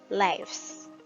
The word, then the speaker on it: lives: Pero en el plural es como que vamos a pronunciar la V, pero termina en una S. Y como que la S la arrastramos un poco. Lives.